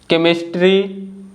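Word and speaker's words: chemistry: According to the rule, the letter H is silent when it comes after the letters W, सी एंड आर। तो जो letter H है अगर डब्ल्यू, सी और आर के बाद आता है तो लेटर एच साइलेंट होता है, इसको हम नहीं बोलते हैं।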